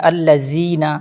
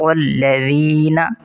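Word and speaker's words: الذين: الذین۔ یہاں پر الذین، کچھ لوگ اس ذال کی جگہ زا پڑھتے ہیں الذین، یہ غلط ہے، ذال کو نرمی سے ادا کریں گے، صراط الذین انعمت علیہم، تو اس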